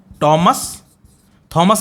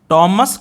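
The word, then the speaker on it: Thomas: थॉमस नहीं बोलते हैं, टॉमस कैरियो।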